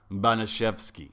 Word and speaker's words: Baniszewski: high gym teacher that it's pronounced banashevsky in polish what a jerk that